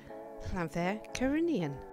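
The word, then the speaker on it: Llanfair Caereinion: and Dawn will now tell you how to pronounce the lovely little town we stayed in. Llanfair Cyrenian.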